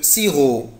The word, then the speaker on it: sirop: parents un mélange de sirop de sirop mallette dawa tab à 0 à la mi juin mais ce matin je ne prononce pas la lettre p voilà siro et bénévoles interne bon